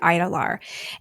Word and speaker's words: Idalar: So it's spelled very strangely. They pronounce it, or I hear it. It's not like they're writing it down for me, but I hear it as the Idalar.